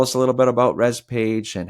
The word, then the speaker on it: ResPage: Tell us a little bit about ResPage, and how can people reach out if they want more information? So company is ResPage, and pronounced that way.